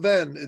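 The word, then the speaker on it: Hven: Isle of Ven, though it's spelled H-V-E-N.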